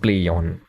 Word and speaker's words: Plaion: It's pronounced Plaion. No Plaion, ambiguity whatsoever.